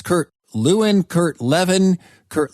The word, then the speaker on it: Lewin: this great man's name well actually if you were in Germany you might have said LaVine okay but when he